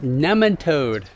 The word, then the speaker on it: nematode: This is part 3 in the series Cover Crops to Kill Nematodes. It's pronounced nematode.